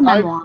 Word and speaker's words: memoir: It depends really on how much French you have. Wait. That's the American pronunciation. Let's go with the Oh. British. There's the answer. Okay. Memoir. So if you're British or like me, you say memoir.